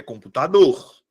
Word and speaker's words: computador: Identifico qual dessas vogais é pronunciada com mais força. Computador. Qual é a que eu pronuncio com mais força? Tá aqui minha sílaba tônica. É computador ou é computador? É computador.